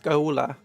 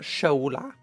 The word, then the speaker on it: Schola: I think it's pronounced skola like school not shola.